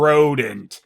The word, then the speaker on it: Rodent: Broken neck guy, whose real name is the stunning Monsieur Rodent. (pronounced row-dawn) Yes: Mr. Rodent.